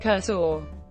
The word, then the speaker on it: coração: Unstressed O in continental Portuguese are usually pronounced U, so the Portuguese word for heart, Curacao, is actually pronounced Curaçao.